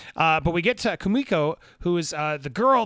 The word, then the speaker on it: Kumiko: uh is uh uh how do i keep saying her name wrong uh kamuku kumiko is uh fantastic in